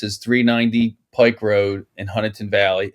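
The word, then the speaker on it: Huntingdon Valley: And it's Huntington, not Dunn. I know everybody, you and Keith, like to make fun of my town that I am in. It's spelled with a D, Bill. It is. I agree, but that's not how they pronounce it, or at least not that.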